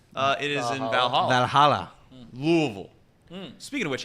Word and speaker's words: Louisville: But I do know it's supposed to be like Louisville. Like you're almost like got marbles in your mouth or something along those lines.